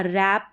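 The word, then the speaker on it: wrap: आर साथ में आएंगे तो डब्लू साइलेंट रहेगा रैप रैप करना लपेटना कोई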